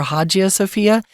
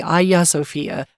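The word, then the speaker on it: Hagia Sophia: I look at it I would say Hajj or hajia Sophia but I think it's actually Aya sopia uh again we're not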